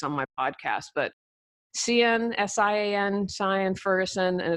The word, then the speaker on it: Sian: We have a couple pronunciation police on my podcast, but Sian, S-I-A-N, Sian Ferguson, and it's from January 17, 2015.